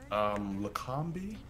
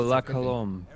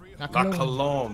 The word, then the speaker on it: La Colombe: Oh, La Colombe. La Colombe, there we go.